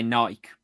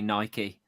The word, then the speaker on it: Nike: But then the opposite is um with Nike cuz we say Nike but it's actually Nike. Well, yeah, cuz it's a Greek word, isn't it?